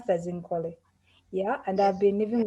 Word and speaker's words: Nkole: zambia thank you uh my name's uh you pronounce that zincoli yeah and i've been living with hiv for